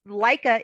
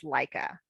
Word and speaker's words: Laika: So the book of the month is from your Liz Leica. Am I pronouncing her name correctly? Liz Leica? Yes. I believe I have to always have to check. It is Laika is a reference to the first dog who was sent into space.